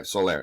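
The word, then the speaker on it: Soler: Dodgers you know and I think this is pronounced Jorge solar right or George soiler Jorge Solair yeah Solair okay there you go um but they were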